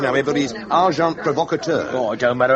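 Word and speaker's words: agent provocateur: And agent provocator. S. Amazing. Packar. The pronunciation however is arjant provocator.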